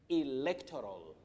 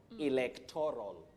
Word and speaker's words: electoral: Now, we say electoral, electoral, not electoral. The stress is on le. That is the primary stress.